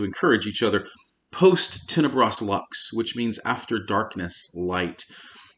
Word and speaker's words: lux: i mean public schools lux is the latin word for light i suppose we should pronounce it luke's but we're americans so we say lux the purpose of luck's